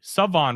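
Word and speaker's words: Shavon: East Carolina, Siobhan or sorry, Savon Rebel Jr. The H is silent.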